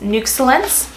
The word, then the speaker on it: Nuxellence: the first one is nooks lens it's how it's pronounced like excellence but nooks lens ich